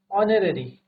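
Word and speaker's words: honorary: जैसे हमने बात की एन ऑनरेरी, ऑनरेरी में हमारा क्या है, एच म्यूट है। ठीक है, एच म्यूट है, तो इसको क्या पढ़ेंगे, ऑनरेरी।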